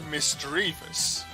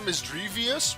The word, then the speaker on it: Misdreavus: that is mysterious or misgrievous because it's either like miss and it's either the three part d or e a part it's either dread or dream which can both work for the pokemon which makes it mister